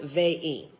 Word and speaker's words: Vine: It's spelt vine, but it's pronounced vein.